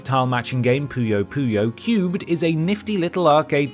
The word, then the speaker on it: QUB3D: As a huge fan of the English language and linguistics in general, I'm mildly affronted that I'm expected to pronounce this minigame as Cubed and not Quub 3D, but I'll let it slide on account of how hugely addictive it is.